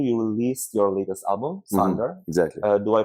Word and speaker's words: Sonder: So last year you released your latest album, Sonder. Exactly. Do I pronounce it correctly?